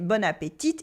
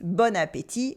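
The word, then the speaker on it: bon appétit: before any meal the tea at the end is silent we don't say Bon Appetit it is Bon Appetit we've seen that before in French culture meals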